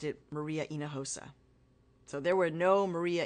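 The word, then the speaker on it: Maria Hinojosa: as a public Persona I was Maria inosa that is my name that's how it was given to me that's how it's pronounced and I can't tell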